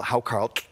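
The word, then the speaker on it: hákarl: outrageous which is called how Carl and that's how you say it with the hook oh how Carlton and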